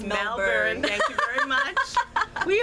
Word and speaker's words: Melbourne: It's Melbourne.